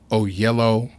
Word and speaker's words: Oyelowo: talking about his look and how do you pronounce the guy who played Martin Luther King in Selma? David Oyelowo.